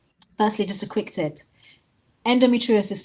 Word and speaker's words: endometriosis: Endometriosis, to be fair, is one of those unusual words. It's got six syllables. So, usually, and I'm a daughter of a school teacher, right? So, I grew up with grammar syllables, all that stuff. Breaking it up usually helps.